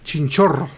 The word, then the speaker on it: Chinchorro: You gotta roll your R's better. Chinchorro.